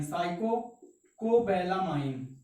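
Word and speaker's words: cyanocobalamin: और जो vitamin B12 होता है बच्चों, ये क्या होता है, साइकोकोबैलामाइन, साइकोकोबैलामाइन। लिख लीजिएगा बच्चों, स्पेलिंग पे ना जाइएगा, साइकोकोबैलामाइन।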